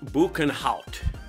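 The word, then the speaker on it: Boekenhout: name means Ravine of the banout pronounced banout banout is an indigenous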